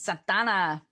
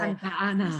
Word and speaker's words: Santa Ana: Santana. Whoa. Yeah. So LA. You got to say it like that. If you're from Southern California, you can't just say Santa Ana.